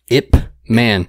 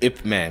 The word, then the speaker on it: Ip Man: It's really hard to tell somebody what that movie is because I feel like I under-pronunciate the P. Ip Man. Ip Man. It almost looks like IP Man. I used to call it IP Man when I was an ignorant piece of shit.